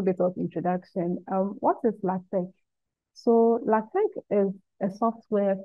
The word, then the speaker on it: LaTeX: The X is not pronounced, we mention it with a K rather.